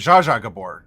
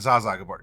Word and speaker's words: Zsa Zsa Gabor: Zsa Zsa Gabor, say Zha Ad Ing. Zhang. Or let's see, no, Because it's a Zaza. No, it was Zsa Zsa Gabor, not Zaza Gabor.